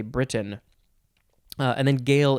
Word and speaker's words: Gael: a modern gale highland scott irishman welshman cornishmen or breton or do you say britain uh and then gail is g-a-e-l like gaelic gael yes they are celts